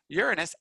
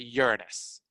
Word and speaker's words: Uranus: the 64-yard line and yes you pronounce it uranus do not pronounce it the other way well you're free to pronounce things however you want i will pronounce it the correct way which is uranus so there's our scale